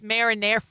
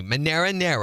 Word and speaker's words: marinara: It's marinara. It's marinara sauce. You know it's marinara sauce. I can't even say it right now. Try it with me. Monero. Man. No, that's not how you say it.